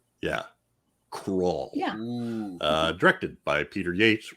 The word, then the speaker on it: Krull: So anyway, just tell him it rhymes with dull. Yeah, Krull.